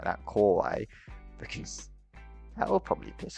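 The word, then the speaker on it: 可愛い: Pronounce the core bit much louder than kawaii, because of course kawaii means cute and kawaii means scary.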